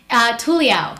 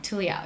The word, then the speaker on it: Tuliao: Tuliao. Tuliao. Tuliao, yeah. How most people can't pronounce my last name, so what I tell them is Tuli in Tagalog means circumcision.